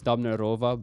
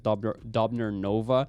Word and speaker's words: Dabnerova: last name wrong it's dabnerova but I've always read his dobner Nova yeah in three years ago three years in and then I just figured out I've been saying it wrong for the whole for my